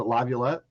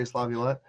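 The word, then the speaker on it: LaViolette: You might have to fix my pronunciation here. Is it Lavlet? Yep, you got it. Jay Lavlet.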